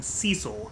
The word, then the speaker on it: Cecil: Here in English-speaking countries, if somebody has a name spelled like that, you call them Cecil.